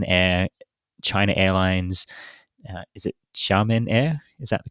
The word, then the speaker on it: Xiamen: Is it Xiamen Air? Is that the correct pronunciation?